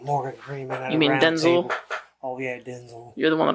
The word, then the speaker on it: Denzel: Freeman at oh yeah Denzel you're the one that always yells at me for saying it wrong denel Denzel Washington Denzel yeah we just need to